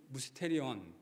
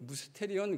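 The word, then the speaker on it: μυστήριον: 준비한 미스테리어스한 하나님의 놀라운 지혜와 지식을 이야기할 때 바울은 무스테리언 여러분 무스테리언 그러니까 발음도 뭐랑 비슷하죠? 영어의 미스테리 예 영어의 미스테리란 단어가 바로이 헬라오 무스테리온이란 단어에서 왔습니다.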